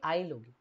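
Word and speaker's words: aisle: What will be its pronunciation? It will be 'Ail'. The 's' inside both these words remains silent. You do not want to read 'S', so look, you will read 'Ail' only.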